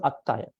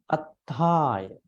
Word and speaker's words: attaya: Attaya. Every time, if there's an upper bar, if you notice upper bar, you need to lengthen in your language, drag that letter. So that's how it's supposed to pronounce.